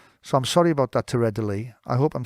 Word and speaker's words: Teradélie: name wrong as well I also say Terrell ID and it's Terre de Lee so I'm sorry about that to readily I hope I'm saying